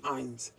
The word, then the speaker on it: eins: तो हमारा रूल क्या है जर्मन में, जब ई आई होगा जहां उसे हम आई ही पढ़ेंगे. ओके, इसलिए हमने 1 को आइंस पढ़ा. ई आई है इसलिए आइंस.